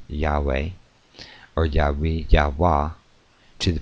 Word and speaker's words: Yahweh: name in making Oaths their priests have preserved the literal uh pronunciation Yahweh or yahi yahwa to